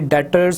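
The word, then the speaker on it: debtors: जब भी अकाउंटिंग में बी और टी का वर्ड इकट्ठा आएगा हम इसमें सिर्फ जो है वो टी की साउंड निकालेंगे, बी जो है वो साइलेंट हो जाता है, यानी डेटर्स का वर्ड यूज़ होगा।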